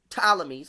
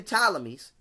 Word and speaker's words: Ptolemies: Why did the Ptolemies, because the P is silent, why did the Ptolemies, okay, have to come